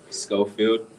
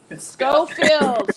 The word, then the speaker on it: Schofield: austin aka floyd schofield did i pronounce your last name right close enough but it's going closer it's okay pronounce it for me i want to say it right go scofield scofield scofield floyd schofield say hi to everybody